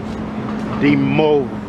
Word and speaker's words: Dimov: Dimov. Dimov.